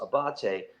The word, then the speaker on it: Abate: You can order it, and like my name is like spelled Abate, and it's pronounced Abate.